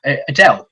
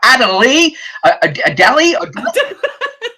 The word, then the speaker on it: Adele: everyone knows he's like Adie AI it's got two he can't pronounce most words he's adding syllables to a word it seems like a two syllable word so anyway it goes